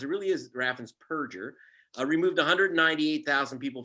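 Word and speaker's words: Raffensperger: show um but scumbag uh whose name is raffan's purger not burgers people mispronounced it really is raffins perger uh removed 198 000 people from the voter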